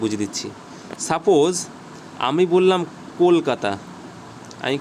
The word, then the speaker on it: কলকাতা: Suppose আমি বললাম কলকাতা, আমি কি বললাম, কলকাতা। তুমি একটা ব্রিটিশ মানুষকে ফোন করবে, সাপোজ সে ব্রিটেন থাকে, তুমি তাকে বলবে বলো তো কলকাতা, ও বলবে খ্যালখাঠা, কলকাতা উচ্চারণই করতে পারবে না।